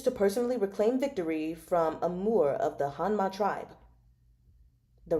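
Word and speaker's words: Amur: Pronounce A M U R. Amore.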